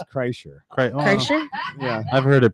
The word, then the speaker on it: Kreischer: Kreshner, it's Kreischer. Kreischer? Yeah. I've heard it pronounced different.